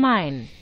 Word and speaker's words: Main: Frankfurt am Main. Main. Yeah, it is Main. I was. Tante Google says Main.